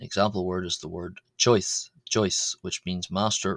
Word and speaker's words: ϭⲟⲓⲥ: Uh however it's pronounced uh this word is pronounced on its own without the article as choice choice.